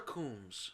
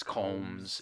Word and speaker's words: Combs: Is it Combs or Coombs? It's Combs. It's spelled Combs.